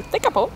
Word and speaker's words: Tekapo: Officiellement prononcé Tekapo.